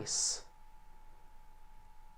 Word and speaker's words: ice: Aqui eu tenho certeza que você está conseguindo escutar bem a diferença, né? Eyes, ice.